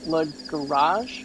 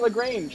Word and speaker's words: Lagrange: Thomas Murphy saying Lagrange is pronounced like La Garage, like garage. I didn't know that. I've always been saying Lagrange, like a dum-dum.